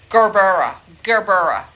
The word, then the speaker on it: Gerbera: Somebody said use a hard G. Gerbera.